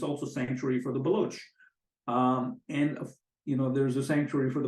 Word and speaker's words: Baloch: I must thank you for saying Baloch and not Balochi, by the way, which is a common mistake so many analysts make. So thank you. Well done, sir. Yeah, and the Iranian pronunciation is Baloch.